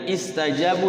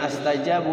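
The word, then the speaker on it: اسْتَجَابُوا: Jadi nastajabu kalau dimulai dari itu istajabu ya, jangan astajabu atau ustajabu.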